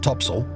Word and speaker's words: topsail: Her large square sails included the fore course, fore topsail, pronounced tops'l, and fore topgallant sail, pronounced fore-t'-gallants'l.